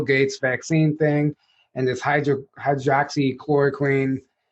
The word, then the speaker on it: hydroxychloroquine: vaccine thing and this hydroxychloroquine. Hey, you said it right. Yeah. Yeah. It's so You said it better than most of the people on stage up there. I know. Most people like chloroxine.